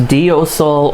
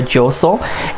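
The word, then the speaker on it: deiseal: So we use the term josel, which many of us, it's sometimes pronounced diosel or josel, is clockwise, also known as sunwise.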